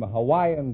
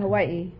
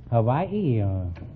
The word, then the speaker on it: Hawaii: a thousand I'm from Hawaii Hawaii is that the correct pronunciation I thought it was Hawai no that's not right uh Hawaii is correct oh you couldn't say